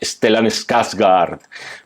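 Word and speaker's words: Stellan Skarsgård: el profesor que interpreta stelan skaz gard pronunciado suec genial Esta es una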